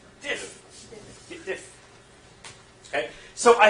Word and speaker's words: diff: But if I want to see the actual lines that have changed, remember the D rhymes with if. Diff.